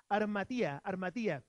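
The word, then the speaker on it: ἁμαρτία: palabra pecado es un una palabra que se pronuncia armaa armaa y esto significa pecado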